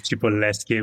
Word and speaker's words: Cipolleschi: My last name is Chipolesi, but it's pretty hard. Even in Italy, they sometime mispronounce it. So, okay. All right. I don't feel so bad. Chipoleski, something like that.